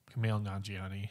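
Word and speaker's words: Kumail Nanjiani: first correct me how to say his name camille nanjiani nanjiani okay okay uh he got jacked for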